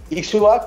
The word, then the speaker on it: Ixhua: Ixchua, como tú lo comentas, es la pronunciación correcta. Viene del náhuatl ver la semilla crecer o la cosecha brotar. Nosotros de cariño lo llamamos Ixchua.